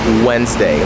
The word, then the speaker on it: Wednesday: So even though it's spelled like Wednesday, obviously that sounds weird and bizarre. So it is Wednesday, like when you say when, oh, when are you coming here, right?